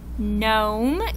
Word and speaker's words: gnome: In words like sign and gnome and gnaw, what words do you not hear? That's right. You don't hear the G. All of these words have a silent G. You don't hear it.